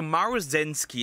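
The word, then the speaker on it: Maruzensky: Okay, so Maru Zenski is how you pronounce her name cuz I struggled when I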